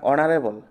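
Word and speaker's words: honorable: এখানে এ বসবে না কারণ অনারেবল ঠিক আছে অনারেবল হবে ও উচ্চারণ আসছে তো এখানে এ ই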